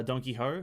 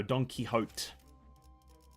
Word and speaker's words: Don Quixote: most uh things uh donkey ho no Don Quixote it's a character's name Don Quixote I just pronounce it very quickly because I speak very fast my apologies Don Quixote